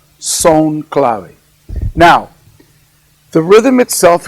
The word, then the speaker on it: son: we call sewn clav one 2 3 4 son is spelled s o n son CL and this